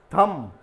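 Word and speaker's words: thumb: थम, जो अंगूठा को कहा जाता है, थम, तो ये बी को साइलेंट, थंब नहीं बोलेंगे हम कहेंगे इसको थम।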